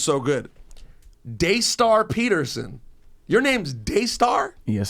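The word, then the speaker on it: Daystar: true go ahead his name is don't don't mispronounce it I'm not I'm looking again CU it's so good dayar Peterson your name's dayar yes sir that's your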